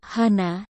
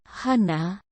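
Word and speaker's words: 하나: berbeda dengan pelafalan biasa suku kata yang ditekan tidak akan terdengar saat diucapkan contohnya data Hana yang biasanya dilafalkan Hana menjadi Han dan kata Dasril yang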